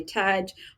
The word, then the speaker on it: Taj: and just Taj yeah if it's easier just say Taj oh you can associate with Taj Mahal or Taj now some